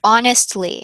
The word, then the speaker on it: honestly: up the idea that the H is silent depending on their pronunciation so they learn a